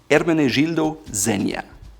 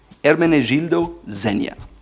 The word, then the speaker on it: Ermenegildo Zegna: It's Ermenegildo Zegna. Ermenegildo Zegna. It's a soft G, and you don't say the Z very hard, so it's Ermenegildo Zegna. Zegna.